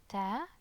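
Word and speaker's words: تاج: Taj, taj, taj. Okay, notice how the fatha produces the ah sound, and again the alif produces the ah sound, so it's a long ah, it's a long a sound.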